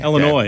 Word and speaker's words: Illinois: Illinois. No S. Illinois. Yeah. How would you pronounce the Washington Commanders quarterback Marcus?